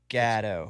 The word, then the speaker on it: Gatto: Gatto. My accent and your accent. Everybody says Gatto. Yeah, it's Gatto.